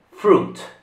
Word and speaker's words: fruit: Quindi fruit. Significato è un frutto, ovviamente. Quindi la I non si pronuncia.